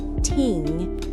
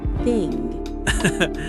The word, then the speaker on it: thing: I still say ting instead of thing. That's normal. Try biting your tongue a little.